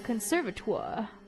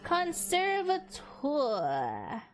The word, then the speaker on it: conservatoire: You were always scolded too, back in the conservatoire. How the frick do you pronounce that? I'm googling that again. Conservatoire.